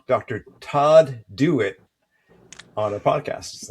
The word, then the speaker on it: Dewett: Todd Dit on our podcast. last is pronounced do it as in just do it.